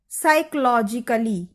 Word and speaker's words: psychologically: इस शब्द में उच्चारण करते समय पी अक्षर को बोला नहीं जाता है, ये साइलेंट अक्षर है। इसे लिखते समय जरूर उपयोग करते हैं, लेकिन बोलते समय पी अक्षर का उपयोग नहीं करना है, और इस तरह